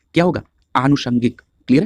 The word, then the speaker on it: आनुषंगिक: जैसे अगर हम इस प्रकार के देख लें, जैसे बहुत लोग अनुषंगिक बोलते हैं, वो गलत प्रोनाउंसिएशन है। होता क्या है कि जब हम व्यवहारिक तौर पर जब शब्दों का इस्तेमाल करते हैं तो उसका प्रोनाउंसिएशन अर्थात उच्चारण गलत करते हैं, इसलिए कई बार हम उसको गलत लिख भी देते हैं। क्लियर? तो यहाँ पर आप ध्यान रखेंगे, जब भी आप बोलेंगे तो आप आनुषंगिक बोलेंगे। क्लियर?